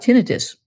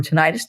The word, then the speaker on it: tinnitus: How about tinnitus or tinnitus, depending on how you want to pronounce it?